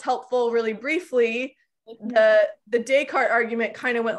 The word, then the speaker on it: Descartes: asked how do you pronounce descartes so it's pronounced like descartes not descartes which yeah it is a little bit weird